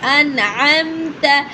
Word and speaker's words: أنعمت: أنعمت pronounced an. The sound is an. The hamza sound will be clear. It will be clear. Then go to the ain sound then mix then add to two points here.